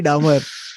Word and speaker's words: Dahmer: crime show on Jeffrey Dahmer uh Dahmer okay that's the pronunciation okay yeah he was